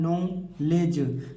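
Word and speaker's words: knowledge: नहीं पढ़ना है नोलेज देखिए यहां जी की पहले डी आया है तो डी को नहीं पढ़ना है और लास्ट में ई आया है तो ई को भी नहीं पढ़ना है तो केवल केवल पढ़ेंगे किसको नॉलेज नॉलेज माने ज्ञान हो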